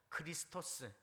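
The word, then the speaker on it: Χριστός: 다는 거죠 그리스도 5 영어 식으로 발음하면 크라이 스 토 스크 라이터 크라이스트 크라이스트 헬라 로 발음 하면요 크리스토스 중국 사람들 식으로 발음하면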